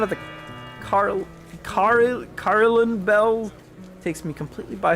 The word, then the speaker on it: Carillon: It's quite amusing to contrast the pleasant smiles of the older folk against the It's pronounced Carillon.